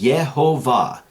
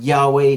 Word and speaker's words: Yehovah: However it's in there, he was able to find it 50 different times as Yehovah, not Yahweh, not anything else, not even a corrected way of saying it than Yehovah.